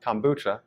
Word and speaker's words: kombucha: I have never heard about kombucha.